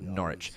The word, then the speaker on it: Norwich: In Norwich, the W is silent. Just pronounce Norwich.